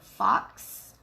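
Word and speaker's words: Fawkes: This glitter is called Fox, I want to say is how you say it. F-A-W-K-E-S.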